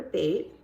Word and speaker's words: Bate: My name is Bate. It rhymes with real estate.